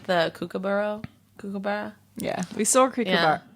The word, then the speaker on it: kookaburra: I like the kookaburra.